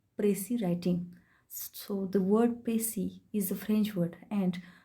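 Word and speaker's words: précis: writing so the word Pacey is a French word and when I spell it PR EC is what the letter S is silent in this word so pronunciation of the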